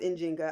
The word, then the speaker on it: Njinga: is the United States so they talk about in Zynga which is pronounced injinga I'll just go with engineer because somebody's gonna